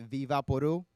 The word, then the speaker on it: Vicks VapoRub: in Vicks VapoRub or hot Dominica's pronounce it Viva Peru Vicks VapoRub some Dominican red then I went Viva Peru but I seek a isn't silent in Spanish we just said we don't need those letters that room would also